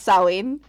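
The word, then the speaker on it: Samhain: Actually, it's it's sin. It's pronounced sin. I know it doesn't look like it because you're used to the English words, how you pronounce letters, but that's it's it's Gaelic.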